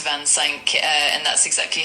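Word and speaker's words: vingt-cinq: Yes, Van Sync 25. Yes. Is that what you said? Yes, that's correct. For 25, it's Vansen. Uh, and that's exactly how we stay and spell it.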